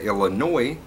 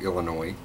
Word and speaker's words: Illinois: on the end like the silent s on Arkansas so anyways I've blah